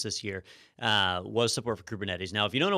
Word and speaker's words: Kubernetes: and I had to ask you how to pronounce this kubernetes the kubernetes Nettie's yes kubernetes so uh so this was a big deal